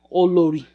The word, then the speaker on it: Olori: one by the way olori means queen or lori you know that's how you pronounce it i keep pronouncing it like i'm american okay this is the